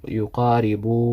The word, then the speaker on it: يقارب: It's supposed to have a dhamma on the bow. يقارب, 2 حركات.